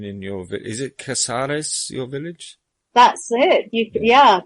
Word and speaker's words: Casares: Is it Casares, your village? That's it. Pronounced very well. It is Casares, yes.